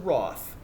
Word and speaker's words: Roth: Roth, and in elementary school, I teach drama, right? Now, my name is spelled R-O-T-H, right? So it rhymes with a couple of things, like sloth, the fun animal in